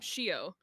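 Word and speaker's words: Xio: Trials are Spanish and the X is a sh, I would forget while reading them and have to remind myself that that is how you pronounce it, not the way that you read it. cuz it's like X IO and if you're not like you know Shio yeah it's Shio in the audio book but I I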